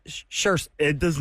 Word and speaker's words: Saoirse: It looks like Soirees. Soirees. Yeah. Yeah, and I've always had to look her up, and I've had to phonetically find a Google file to hear how it is. It's Saoirse.